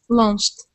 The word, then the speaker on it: launched: line okay this uh this word class will have a Ed ending that's that sounds like a t okay so when we